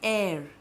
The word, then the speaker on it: heir: consonant have you understood so just be careful about H because when H is silent like for example when we say air Rani Laxmi Bai did not have an heir to the throne so H is not pronounced this is pronounced as air seem like how we